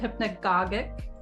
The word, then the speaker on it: hypnagogic: And hypnagogic state, hypnagogic, and some people pronounce it hypnagogic.